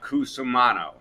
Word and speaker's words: Cusumano: I kasu, how do you pronounce I was fighting with my wife on how to pronounce your last name. Oh, it's uh Kusumano. Kusumano because I know is easy.